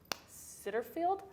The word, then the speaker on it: Sittenfeld: But I would say Romantic Comedy by Curtis Sitterfield, I want to say is how you pronounce their last name, was absolutely a delight to read.